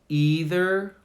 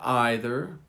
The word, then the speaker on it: either: They're pronounced two different ways, either or either, neither or neither. So you have two options. Either, neither, either, neither. Both are correct.